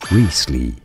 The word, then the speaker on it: Wriothesley: Risley is how you want to say it.